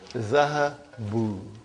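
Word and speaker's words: ذهبوا: Because of waw, I changed this fatha into dhamma. So this is zahabu.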